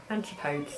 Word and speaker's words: Antipodes: she was talking about and it is a Antipodes aunt ipods Antipodes Antipodes that's how you say it baptize h2o ultra